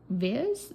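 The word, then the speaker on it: Vis: His name, I have now learned you pronounce it viz. Viz like like it rhymes with his.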